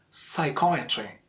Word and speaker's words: psychiatry: Environment, environment, and so is the case with psychiatry, psychiatry. Again, the second syllable is a stressed syllable.